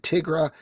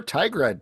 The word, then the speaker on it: Tigra: we focus in on Tigra or Tigra, depending on how you pronounce it. I say Tigra. You say Tigra? Tigra, not Tigra. Why would you say? She's a tiger. She's not Tigger.